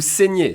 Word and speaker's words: saigne: So we switch in terms of useful pronouns between vous saignez with an i accent aigu sound to il saigne with an i accent grave sound, okay?